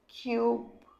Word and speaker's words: cube: যেই আমি শেষে একটি ই লাগিয়ে দিলাম, সঙ্গে সঙ্গে ও চুপ থেকে ওকে নাম বলাবে, উচ্চারণ কি হয়ে যাবে, কিউব।